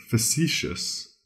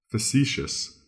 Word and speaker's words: facetious: Our third word is facetious. Facetious. It's spelled F-A-C-E-T-I-O-U-S.